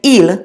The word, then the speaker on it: il: examples in a little while but you say eel to mean it when you're referring to a